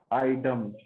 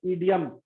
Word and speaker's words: idiom: इसके बाद आता है आइडम। बहुत सारे स्टूडेंट्स उसको प्रोनाउंस करते होंगे ईडियम, हालांकि ईडियम्स भी सही है।